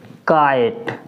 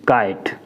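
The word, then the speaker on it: kite: ए से होता है, जैसे के आई टी ई, तो इसको हम क्या पढ़ेंगे? काइट। यानी कसे के और आई से आ की मात्रा और छोटी ई, काइट।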